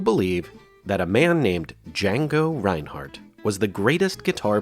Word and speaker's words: Django: many people who believe that a man named D Jango Reinhardt was the greatest guitar player ever in